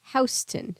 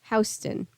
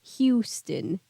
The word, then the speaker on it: Houston: in Houston Street which by the way is pronounced Houston sorry I was about to ask Houston not Houston sorry Sunny didn't mean to be called out